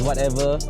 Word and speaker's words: WYTEVR: pronounced as whatever.